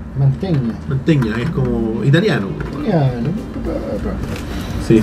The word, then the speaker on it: Mantegna: me gusta como habl yo lo pronuncio mantegna Tú dijiste mantegna que yo lo escuché en inglés una vez y ahí camb yo también decí yo mantegna es como que la gn hace sonido de eñe manteña manteña es como